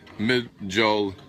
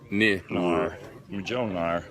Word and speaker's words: Mjolnir: And correct spelling is Mjolnir, pronounced Mjolnir. Mjolnir.